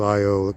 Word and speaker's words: Io: The innermost moon, Io, spelled I-O, some people pronounce it I-O, or Io, goes around the planet every 40 hours.